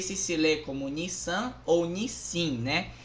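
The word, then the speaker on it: 日清: Eu não sei se lê como Nissan ou Nissin, né? Em japonês, a pronúncia é Nishin, Nishin, tá?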